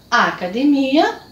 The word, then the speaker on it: academia: conhecida por em espanhol trocando a posição da sílaba tônica eu vou ler academia academia academia academia e a palavra